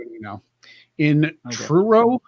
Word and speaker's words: Truro: q a now in true row is that how you pronounce it t-r-u-r-o yeah true it sounds like something scooby-doo